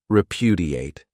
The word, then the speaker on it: repudiate: great verb is repudiate this verb has four syllables and the stress is on that second syllable repudiate this means to reject something